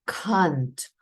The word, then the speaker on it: can't: у нас утворюється скорочення то наша літера е в нашій звук е починає вимовлятися як А і виходить Кант I can't swim Оскільки ми з вами вчимо Bridge британський варіант англійською то ми з вами за зразком британської вимови це слово читаємо Кант American English читаємо так як бачимо але ми читаємо через звук а Кант ай Кант swim я